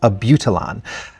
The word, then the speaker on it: Abutilon: She says it's Abutilon. So anyway, glad I at least got one of my pronunciations.